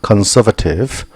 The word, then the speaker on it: conservative: conservative 발음이 conserve 발음납니다. conservative innovative 이번에는 A하고 소리 납니다.